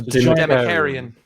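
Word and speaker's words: Dimachaeron: How do you pronounce it, Tim? Sorry, say that again. It's the Democarian. There you go. The Democarian.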